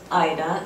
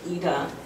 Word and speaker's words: Ida: It's spelled I-D-A, but the German way of pronouncing Ida is Ida. And that's really the only thing I like to stick with. I prefer Ida over Ida.